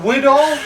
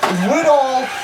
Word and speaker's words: Widahl: Widahl? Widahl Woodcraft.